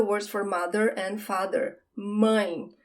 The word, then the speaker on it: mãe: Now we have the words for mother and father, mãe. Here you have the nasal sound, right? Mãe. It's like someone calls you when you go like, it's that sound, mãe.